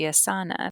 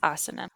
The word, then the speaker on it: asana: So if you're pronouncing it like you would Spanish, it would be asana because the emphasis would be on the second to last syllable, but Hmm. but it's asana.